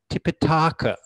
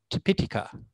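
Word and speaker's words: Tipiṭaka: it here so i often hear it being pronounced as tipitaka which sounds rather funny to me so using a long vowel in actual fact it's tepitika or in sanskrit it would be tripitika with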